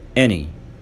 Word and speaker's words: any: any many هنقولهم مرة كمان.